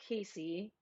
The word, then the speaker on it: Cassie: and casey's name is spelled cassie but it's pronounced casey hi cheryl yeah this